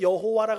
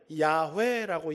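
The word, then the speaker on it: 야훼: 그래서 여러분 지금도 전통 아주 정통 유대인들은 자기들 입에 우리는 여호와라 그러는데 히브리 사람들은 여호와 여호와는 영어 발음이고 히브리 사람들은 야회라고 이야기를 해요.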